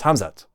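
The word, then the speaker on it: Khamzat: about hamzat is that his name is hamzat and people in the media seem to mispronounce his name all the time which I don't get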